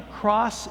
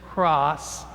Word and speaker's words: cras: scroll that says C-R-A-S, which we would pronounce sort of as cross, and that is actually a Latin term for tomorrow.